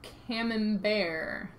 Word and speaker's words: camembert: Kevin oh camon bear Kevin Burt is pronounced camembert I learned this from Monty Python camembert my apology is